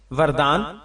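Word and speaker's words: وردان: रखना कैसा है जवाब वरदान वाव पर जबर रा साकिन के साथ कई सहाबा कराम रजि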